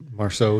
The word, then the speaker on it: Marceau: Marceau, yeah.